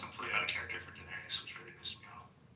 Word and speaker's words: Daenerys: so passionately and yet you're still saying her name wrong. He's saying both of their names wrong, but it's that doesn't matter. I know, but I just like it's Daenerys. Oh, Daenerys. Yes. I added extra syllable.